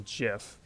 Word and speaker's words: GIF: that the Cur actually the correct way to pronounce that is gif um but I I will usually say gif I also probably should